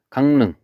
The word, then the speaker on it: 강릉: 강릉. 얘 발음 어떻게 해요? 강릉. 능 이렇게 발음이 되죠.